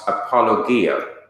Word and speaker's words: apologia: is spelled EPO l OG I a would pronounced apologia and it is translated into English as defense